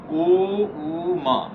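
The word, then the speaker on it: ॐ: ओ ऊ मा 3 शब्द इसमें, 3 साउंड इसमें उच्चारण होते हैं। ओ के उच्चारण के समय में मुंह खोल कर रखेंगे। ऊ के उच्चारण में धीरे से मुंह गोल बनाते हुए माँ के उच्चारण के समय में होठ मिले हुए रखें, बंद रखें।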